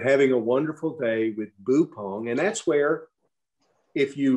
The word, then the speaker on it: Buppong: talks about her grandfather, whom they called Boupong. I think I'm pronouncing that right, any of you folks that are around, but Boupong.